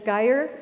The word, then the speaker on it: Gaeir: so as Suzanne said my name is Gaeir you can remember that because it rhymes with fire and what I do